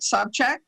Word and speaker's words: Sobchak: Right now, we're going to interview Frank Sobchak. Do I pronounce that properly?